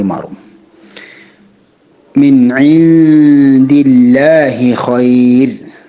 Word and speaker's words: خير: മിൻ ഇൻദില്ലാഹി ഖൈർ, ഖൈർ എന്ന വാക്കിൽ നിർത്തുമ്പോൾ റാഇന് തർക്കീഖാണ് കൊടുക്കേണ്ടത്. റാഇനെ രാ എന്ന ശബ്ദമാക്കി മാറ്റേണ്ടതാണ്.